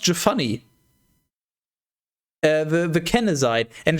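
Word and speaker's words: Jephunneh: caleb the son of jefune jafani actually i just realized it's probably pronounced jafani uh the the kennezide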